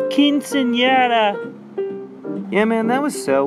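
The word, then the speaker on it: quinceañera: said up at that quincenera balloon the last time you felt this way I believe that it's pronounced quinceanera yeah man that was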